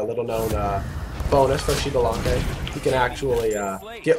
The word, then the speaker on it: Xbalanque: it only works if you pronounce it shalan if you pronoun it pronounce it xan it doesn't uh it